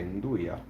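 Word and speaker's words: 'nduja: Italy and over there they don't say nuli they say andya that's how they pronounced it andya andya and apostrophe d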